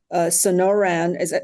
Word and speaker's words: Sonoran: He received his degree in Arizona from the now called Sonoran, did I say it right?